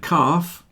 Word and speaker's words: calf: Half and calf also have silent L's. A calf is a young cow if you don't know. So half and calf rhyme with laugh.